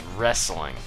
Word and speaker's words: wrestling: saying Russ you know wrestling wrong it's like it's like you say rest but you don't add the T so it's wrestling yeah that's how you say it wrestling but it's like I